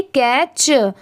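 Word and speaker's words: catch: टी एच आर ओ W throw C ए टी सी एच कैच यहां पर देखिए कैच यहां पर ये जो टी है टी की साउंड नहीं आ रही है कैच यहां पर सी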